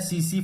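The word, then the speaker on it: tsetse: तो आठवां है स्लीपिंग सिकनेस, स्लीपिंग सिकनेस, और इसका वेक्टर है सीसी फ्लाई, सीसी मक्खी, टी साइलेंट है इसमें, तो सीसी मक्खी।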